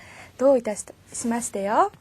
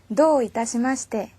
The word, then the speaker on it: どういたしまして: どういたしまして요. 여기도 참 많이 틀려요. 어두에 땡땡이 올 때는요. 토로 발음하기가 쉽거든요. 토 하면 안 돼요. 도요. 그리고 기니까 どういたしまして.